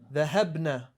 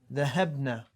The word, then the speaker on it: ذهبنا: You see how short I made that noon? ذهبنا. Focus on that ba to make this noon easy to pronounce. ذهبنا.